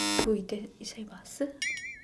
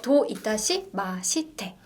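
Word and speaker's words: どういたしまして: 도 이타시마스? 아닌가요? 아니죠. 도 이타시 마시테. 도 이따시마시테. 도 이타시마시테. 좀 형태가 다르죠. 우리가 마스가 되게 많은데 여기는 마시테로 끝나요.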